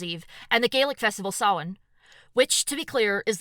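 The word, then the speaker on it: Samhain: and the Gaelic Festival sin which to be clear is the one that looks to anglophone eyes like it should be pronounced Sam Hayne the modern celebration of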